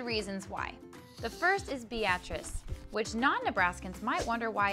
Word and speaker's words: Beatrice: 3 months later, the settlers named the town they founded Beatrice in honor of Judge Kinney's daughter. She had always asked people to pronounce her name that way instead of the more common Beatrice, just because she thought it was funny to cause confusion.